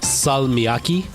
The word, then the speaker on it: salmiakki: Salmiakki in Finnish. That's how you say it.